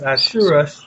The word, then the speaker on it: Ahasuerus: So the king, as Ahasuerus, I can't pronounce it, as Ahasuerus, right? Assurus. Yes, Ahasuerus.